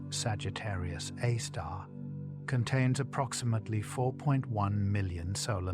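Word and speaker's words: Sagittarius A*: The black hole at the center of the Milky Way, Sagittarius A, pronounced Sagittarius A star, contains approximately 4.1 million solar masses.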